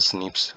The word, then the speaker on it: SNPs: Pronounce as स्निप्स occur in human.